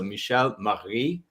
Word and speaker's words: Michelle Maree: She explained to me how to pronounce her name in the correct way before this interview. So Michelle Maree, actually, and she's I got it right.